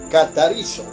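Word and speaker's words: καθαρίζω: La palabra limpiar, limpio, viene del término griego catarizo. Se escribe con K de kilómetro.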